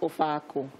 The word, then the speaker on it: Ofe Akwu: But it's pronounced Ofe Akwu.